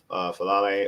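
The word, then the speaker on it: Faalele: M fal falle or Ben or Ben Cleveland at right guard. I prefer Cleveland over fal uh fal. Am I'm saying it right? Fallay.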